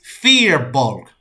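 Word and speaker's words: Firbolg: the guy was sitting next to goes it's fear bulk huh it was probably the most aggressive correction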